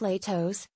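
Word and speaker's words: Lehto's: years and don't sound like a troll it's pronounced Latos Notley das owners bill and Lori Walker bought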